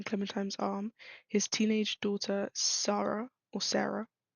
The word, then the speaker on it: Sarah: arm, his teenage daughter Sarah, I would pronounce it Sarah, but I think in the show, or not in the show, in the game, it's pronounced Sarah, so I'm gonna say Sarah, peeks out um, the